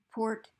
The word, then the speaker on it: report: Here's my report. Report to that teacher. No change in stress.